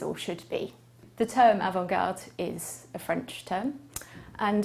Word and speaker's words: avant-garde: so the word is avangard and it's spelled a v a n t g a r d e well the term avangard